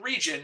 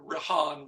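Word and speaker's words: Rijon: that he called region I'm not sure if that's how it's pronounced but it's spelled r i j o n so region rahan ran whatever region I'm going to go with region and some places online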